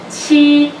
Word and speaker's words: qi: Qi. Qi. Qi. Qi. Qi. Qi. Qi. Qi. Qi. Qi. Yes. Qi like Hillary.